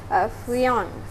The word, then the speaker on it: friand: Alright, ejaan dia adalah F-R-I-A-N-D. Dengan sebutan Frion.